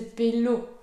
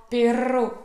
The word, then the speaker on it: perro: Donc si vous ne prononcez pas bien le double R, ça peut vite porter à la confusion.